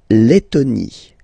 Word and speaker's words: Lettonie: So remember when you've got this E and then a double letter like that, T, okay, then you will have to open your E and it will become E, le, Lettonie.